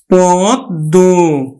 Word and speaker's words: পদ্ম: সদ্য সদ্য তারপরে দেখো পদ্ম আমরা উচ্চারণ করি কিন্তু পদ্দ পদ্দ পদ পদ্ম নয় কিন্তু পদ্ম এছাড়াও যদি ল গ